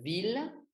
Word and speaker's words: ville: Par exemple, ville, ciudad, ça se prononce L.